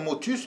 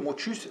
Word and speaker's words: Motchus: Alors, c'est comme motus, mais prononcé à la martégale avec Marchig, motus, M-O-T-C-H-U-S.